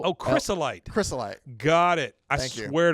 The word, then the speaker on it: crystallite: that what you just said how do you pronounce there drink C no but C HR Ys o oh crystalite crystalite got it I swear to God you